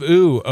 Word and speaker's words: Ooo: So I just always pronounced it that way. It's land of oo, O.